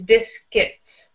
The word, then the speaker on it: biscuits: It looks like we have a U and an I, but the way we pronounce that is biscuits, just an I sound. In both syllables is biscuits.